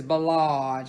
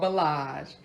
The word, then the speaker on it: Bellage: a long way and the way you pronounce it is bellage because I know you'll be like Mary J Blige it's called bellage and the name of the